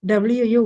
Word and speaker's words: Wu: She is called Wu, W-U, Wu. Chinese names are a bit difficult to pronounce.